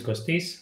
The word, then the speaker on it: Kostis: My name is Kostis. That's the correct pronunciation.